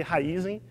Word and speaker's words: Raízen: Raizen é raiz e energia, então meu primeiro desafio é fazer todo mundo pronunciar certo aqui, Raizen.